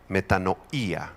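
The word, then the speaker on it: μετάνοια: Es la palabra griega metanoía con acento en la i. Metanoía.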